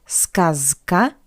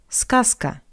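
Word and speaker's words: сказка: Voice voiceless consonant C that's why we pronounce z as its voiceless analog s z s not skasa but skasa scasa Z goes to S scasa and the second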